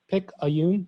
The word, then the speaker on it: Picayune: scholarship recipient from uh picayune pick a yoon that's how you pronounce it picayune mississippi um and